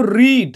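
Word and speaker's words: read: তারপরে দেখো রিড, রিড মানে পড়া। রিড মানে কি বলো তো? পড়া। রিডের পাস্ট ফর্ম বা ভি টু হবে রেড, বানান কিন্তু একই কিন্তু উচ্চারণ বলতে হবে রেড, আর ইডি রেড, এরকমভাবে উচ্চারণ করতে হবে রেড।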